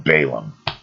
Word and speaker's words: Balaam: that of pope's sir some of you guys call him balaam okay i pronounce it baalam who whilst he himself